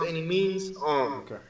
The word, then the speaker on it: Annimeanz: It's Annimeanz, and it's pronounced Annimeanz.